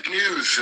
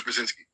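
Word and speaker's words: Brzezinski: He's the father of Mika Brazinski on morning Joe Ballal and uh big news I think is how you pronounce it. So big news Brzinski.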